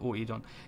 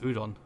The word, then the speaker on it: Oedon: Das ist so ein englisch ausgesprochenes Ö. Weiß nicht. Ödon-Kapelle, Oedon. Ich bleib bei Oedon-Kapelle. Oedon klingt besser als Ödon.